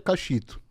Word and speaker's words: Kaxitu: Mas a pronúncia certa é Cachito.